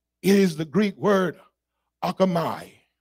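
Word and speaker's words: ἄρχομαι: It is the Greek word akamai. Akamai is sometimes the pronunciation, A-R-C-H-O-M-A-I.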